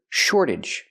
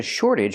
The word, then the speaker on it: shortage: We see the T pronounced like a fast D because it's after an R and before a vowel.